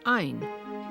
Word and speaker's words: Ayn: Using a Finnish feminine name pronounced aa, she dropped the final A and got ain, keeping the R from Rosenbomb, she chose Rand for her surname.